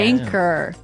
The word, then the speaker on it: anchor: But you don't pronounce the CH as you normally would, right? Another one of these really difficult to spell English words. Right. So you don't say anchor, you would say anchor.